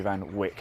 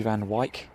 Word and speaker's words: Van Wyk: of uh jamie van i've been calling jamie van wick i believe i'm saying it wrong so thank you claudia jamie van wyk mike is that right